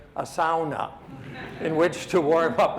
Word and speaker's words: sauna: And if you're anywhere in Northern Ontario and you have a Finnish engineer, you must have, and pronounce it correctly, a sauna in which to warm up after.